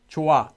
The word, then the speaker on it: 좋아: They also just pronounce it as 좋아. This is the official pronunciation for the word. It's not casual. This is just how it's supposed to be pronounced. 좋아.